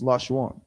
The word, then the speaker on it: Lashawan: How many syllables is Lashawan? It's like Three syllables, but there's how many letters in the word?